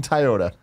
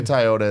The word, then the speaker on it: Toyota: of the coolest dudes in video games in Toyota, Greg Miller. That's right, ladies and gentlemen. If you need a new or used car, Toyota?